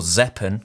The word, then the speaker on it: Zeapon: be looking at the z-pun or zeppen because i think it's meant to be pronounced like weapon so zeppen micro 2